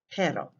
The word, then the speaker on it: pero: like your pet dog the first word you say it with a simple tap sound similar to the english letter d pero the second you trill